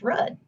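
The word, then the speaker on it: RUDDH: example the spelling of rudd r-u-d-d-h is pronounced red the stars in the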